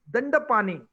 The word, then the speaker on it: Dandapani: Now, the name is Dandapani. in Tamil, but our people pronounce it so hard that I hear thanda pani, like garam pani, thanda pani. So I myself have written thanda pani.